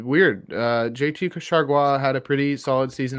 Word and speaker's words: Chargois: Yeah, How do you pronounce his last name, Jay? JT what? Chargois.